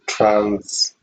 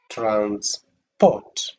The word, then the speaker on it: transport: So if you stress the second part, port, then in this case, we will read the first syllable trans with the falling intonation, transport, transport, transport, transport. An action, movement from one place to another.